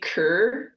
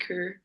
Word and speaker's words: Køge: It's actually like pronounced HB Køge. Like, Oh. so if you were to spell it in like English, it'd be like Ker kind of. Because like they don't pronounce the G really, and then the O sound is like a sound, so it's like HB Køge.